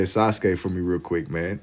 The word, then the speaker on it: Sasuke: You say Sasuke. It's Sasuke. That's how they say it in the show.